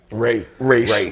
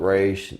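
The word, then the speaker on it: Ra's: You know, you got Raish. You got, which that's how you fucking pronounce it. Raish. Right. They talk about Raish.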